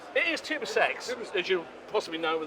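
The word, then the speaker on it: TUSAŞ: tell us Bruce you're from how are we pronouncing your company it's Tu sex it is Tu sex as you possibly know with the team from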